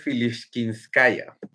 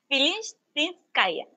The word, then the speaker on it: Filishtinskaya: Gianfranco pregunta si es Filishkinskaya. Es Filishtinskaya, sí, Filishtinskaya, así.